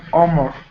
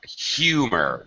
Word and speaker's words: humor: a great sense of armor well close pronunciation here humor you hear the H it's not silent h humor humor okay it's